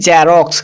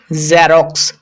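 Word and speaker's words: Xerox: এটা কিন্তু বর্গীয় জ এর সাউন্ড নয়। যেমন আমরা অনেকে বলি জেরক্স কিন্তু এটা জেরক্স ন এটা উচ্চারণ হবে জেরক্স জেরক্স জারক্স একটু ভালোভাবে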